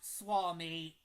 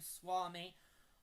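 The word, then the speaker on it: Suomi: year's four nations because right I knew that Swami is how you say Finland in Finnish.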